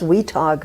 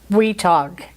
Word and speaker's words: Weatogue: And the English settlers pronounced it Weatogue as one word.